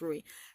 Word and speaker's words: Rui: him you know andrewy that's what it's not Louise who's Rui it smell like Louise but it's like Rui it's pronounced worry Rui um he like he's I guess he